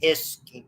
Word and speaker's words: His: Years ago, we called it the bundle of His. That's how it's pronounced. It's a proper name for whoever the scientist is who identified that.